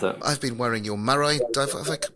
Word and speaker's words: Marai: I've been wearing your Marai. Have I pronounced that correctly? Marai, is that correct Yeah, pronunciation? so I would say, yeah, Maraí. Some people say Maraí, so it depends maybe where you're regionally from, but yeah, so.